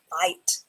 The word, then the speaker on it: fight: Fight. So you have the letter F has the "f" sound. The letter F has the "f" sound. And then you have the "it" sound at the end.